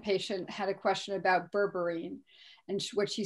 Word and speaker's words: berberine: hear something on the internet um and you pronounce it rightly said it's berberine berberine is a chinese herb and it is been